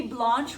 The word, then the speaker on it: Blanche: everybody, it's me Blanche, rhymes with launch, and we are going to launch into a very exciting video today.